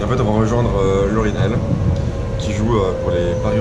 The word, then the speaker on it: Lauryn Hell: Et en fait on va rejoindre Laurinel qui joue pour les Paris Roller Girls.